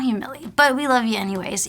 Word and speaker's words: Humillé: already know, but hopefully if you don't, it's Humille.